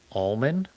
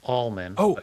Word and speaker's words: almond: Um uh often pronounced almond correctly pronounced as almond with a silent L.